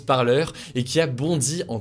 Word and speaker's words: Parler: social qui s'appelle parleurs apparemment ça se prononce comme ça même si on pourrait lire parler ça se prononce parleurs et qui a bondi